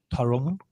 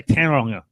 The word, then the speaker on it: Tauranga: Tauranga. I used to say Tauranga when I was at school. That was terrible pronunciation.